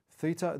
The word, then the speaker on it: theta: Theta, the Greek letter. Theta, pronounced theta, T-H-I-T-A.